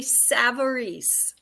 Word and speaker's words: Savarese: Miss Liz yep and my name is pronounced savarese Savory yes and I even asked